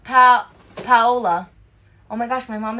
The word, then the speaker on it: Paola: My name is pronounced Paola.